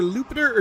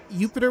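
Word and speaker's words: Iupiter: It's either Lupiter or... No, Jupiter would make sense, I guess. So I guess the I is pronounced like a J in Latin, huh?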